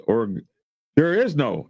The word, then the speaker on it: Oregon: You pronounce that state Oregon?